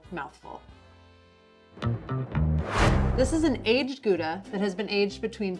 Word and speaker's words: Gouda: from the town of gouda which is actually pronounced hauda young gouda tends to be creamy and buttery